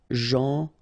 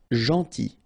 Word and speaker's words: gentil: Gentil. So it's a strange one because here this final L is not pronounced. Okay? Gentil. Gentil.